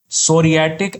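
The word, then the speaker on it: psoriatic: अच्छा सोरियटिक अर्थराइटिस। यहां पर पी साइलेंट है अर्थराइटिस।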